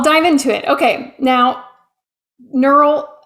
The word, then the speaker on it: Gneural: Okay, now, neural, I'll say the G is silent.